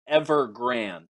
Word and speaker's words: Evergrande: I know so, Dan went with Ever because he also goes with Evolution. So he just defaults to a long E at the beginning of every word.